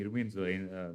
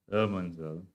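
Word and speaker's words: Irminsul: I have to say Irminster instead of Erminster.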